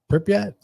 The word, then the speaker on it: Pripyat: So how do you pronounce that? Pripyat? Pripyat.